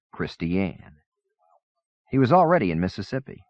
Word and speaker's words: Christian: town marker flashed by Pass Christian pronounced not like Christian Zach new but like a girl's name christianne he was already in